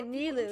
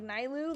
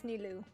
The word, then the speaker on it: Nilou: Nilou will be thrilled to hear their Okay, Nilou is how you say it. Kusanali. Okay, I always thought it was like Nilou, like Nile, but it's Nilou.